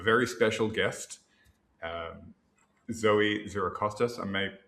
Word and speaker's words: Xirocostas: But the reason I'm excited is because this week um we have a very special guest um Zoe Zerostas. I may pronouncing your surname correctly.